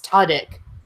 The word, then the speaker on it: Tudyk: last week, and Dennis, I think you said this was correct. It's Tudyk. Yeah. And when he was doing promo stuff for Con Man, he pronounces it Tudyk.